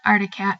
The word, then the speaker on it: Arctic Cat: yamaha's would race by the word artic cat always got me because it has an extra see in it that seems useless in the word so when I would feel sassy I would pronounce it arctic cat besides reading the snowmobiles